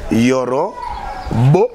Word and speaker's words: Yoro Beau: Moi, Yoro, ça s'écrit R-O et Y-O-R-O espace B-E-A-U, comme beau. Beauté. Ah, Yorobo. Voilà. Donc, et puis, swag, c'est S-W-A-G-G. Donc, double G. Comme swag. Swagamente. Donc, Yoro, beau, comme beauté, et puis swag à la fin.